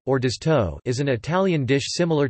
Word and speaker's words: Orzotto: Orzotto, Italian pronunciation, Orzotto, is an Italian dish similar to risotto, but made with pearl barley instead of rice.